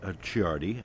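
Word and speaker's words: Ciardi: And uh we're going to we should consider uh Chiardi. His name is spelled C I A R D I.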